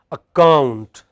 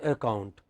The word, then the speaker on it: account: So, we do not say account, we say account. What do we say? Account. We do not say abide, we say abide.